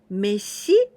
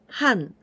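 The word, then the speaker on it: 飯: or boiled rice and we pronounce this Ki Mesi or or Han and this right part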